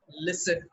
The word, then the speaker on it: listen: we don't pronounce caster we pronounce Castle T is silent listen T is silent you don't say listen badg